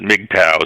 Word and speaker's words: MGTOW: And the sort of weird, awkward acronym MGTOW that people now pronounce it MGTOW, so that's how you identify them easily.